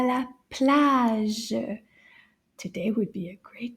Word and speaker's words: plage: Plage. Can you say that? Plage. And then we'll say it a little faster. Plage. Now let's count the syllable in this word. Plage. Plage. Une syllabe. Just one syllable.